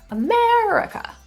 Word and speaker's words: America: quiet really quick so in the word America you might notice that one of the syllables is really really sung and quite clear America and the other three syllables are really quick they're not sung and something strange is happening to those vowels they're being neutralized to a schwa America so that brings me